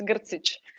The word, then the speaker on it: Grcic: i'm quite used to it's gersich and yes i'm bosnian so yeah thank you